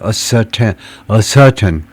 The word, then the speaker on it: ascertain: ascertain, 이쪽에 이제 primary accent가 이쪽에 그 주된 액센트가 있고 앞에는 secondary 아주 잠깐 모음 발음만 하고 ascertain이라고 읽어야 된다.